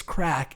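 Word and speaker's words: craic: no matt crack crack it's a c-r-a-i-c it's spelt crack like crate but it's crack and good crack means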